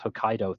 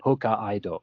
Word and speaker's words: Hokkaido: dubbing in that movie they mispronounce Hokkaido throughout the entire film calling it Hoka Ido and uh because it's